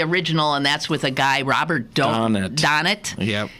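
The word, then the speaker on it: Robert Donat: that's with a guy Robert donet is how it pronounced and the Beautiful wondrous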